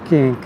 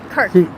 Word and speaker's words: Kirk: Uh freedom for the memory of uh Charlie King. Kirk.